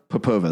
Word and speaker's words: Popova: Maria, I need to I need to do a refresher on your name pronunciation. I apologize. What was it? Popova.